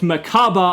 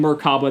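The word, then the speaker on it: Mechaba: invoked ryen and invoked maaba I was saying meraba that's the Japanese pronunciation but invoked maaba so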